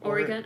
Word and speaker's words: Oregon: say it or Oregon Oregon I said Oregon Oregon like a pentagon Oregon uh let's see